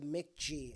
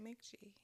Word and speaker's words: Mk.gee: But I've been listening to Mick G. I think it's spelled MK.GEE.